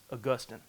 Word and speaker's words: Augustine: or Austine yeah yeah I believe the correct pronunciation is Augustine um he so you know these these guys